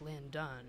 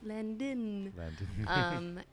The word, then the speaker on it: Landin: It's just my name, Landon, and it's like Landon spelled like a plane landing. L-A-N-D-I-N. Yeah, without a G. people are always like, Landon. And I'm like, nope, Landon.